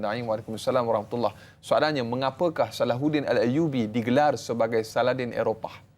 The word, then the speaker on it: Salahuddin: Sebenarnya perkataan Saladin bahasa Arab, dalam bahasa Arab cara pronunciation nama Salahuddin sebutan ha kan dalam. Jadi Salahuddin. Jadi orang Eropah Salahuddin jadi Saladin.